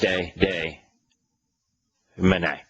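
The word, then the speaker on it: Meusnier: the name John batist de man now it's it's a French name so it's not written as it is pronounced the E is silent the S is silent and the r is silent it's m e u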